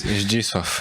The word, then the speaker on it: Zdzisław: That first name is difficult for an English person. The Zdisław. It's Zdzisław.